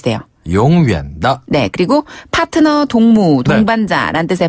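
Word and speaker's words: 同伴: 되면 영원한이란 뜻이 돼요 용다네 그리고 파트너 동무 동반자라 뜻의 발음은 동반 동반 한번 더 동반 발음이 굉장히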